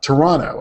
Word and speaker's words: Toronto: it McKay from uh Toronto and I learned that was the proper way to pronounce it Toronto you never pronounced a second T has been busy working